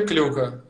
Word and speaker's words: Клюка: Как фамилия правильно произносится? Давай, скажи, чтобы раз и навсегда все запомнили. Как вам удобно? Вообще клюка. Ну, я так привык.